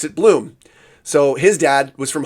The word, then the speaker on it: Blom: And interestingly, my dad grew up with the name BLOM, but they pronounced it bloom.